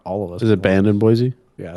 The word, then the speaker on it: Boise: and band no it's boy c it's boy c not boy z yeah i'm gonna stick